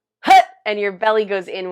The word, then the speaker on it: Hat: And the mantra is Hat, spelled H-A-T, pronounced hut, and it comes from our belly. Like if you've ever played football, it's kind of like, it feels like you would hike the football, like hut, hut, and your belly goes